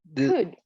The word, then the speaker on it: could: And this, remember that we don't pronounce the L. So we say could. Could.